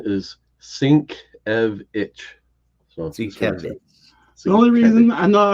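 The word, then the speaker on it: Sienkiewicz: and this is wo Comics U the the pronunciation is sink EV it the only reason I know I pronounce it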